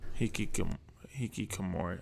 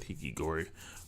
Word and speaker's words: hikikomori: Hikikomori. I don't know why I said hikigori, but hikikomori.